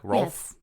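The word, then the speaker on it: Rolf: mispronounce it was like Ralph no his name is Ralph like from The Sound of Music so they went a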